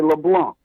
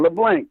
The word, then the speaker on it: LeBlanc: The C is silent, so you got to say LeBlanc, not LeBlanc.